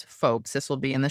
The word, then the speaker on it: Foulkes: And my last name is folks.